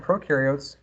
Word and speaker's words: prokaryotes: here we're looking at prokaryotes very very more specific right prokaryotes again no nucleus pro rhymes with no right so no nucleus